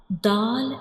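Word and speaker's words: دال: So in this letter dal has same pronunciation like ta.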